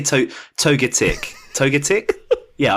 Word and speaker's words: Togetic: say to toga tick toga tick yeah I'd say toga tick I'd put like the emphasis on the tick part totic totic I don't know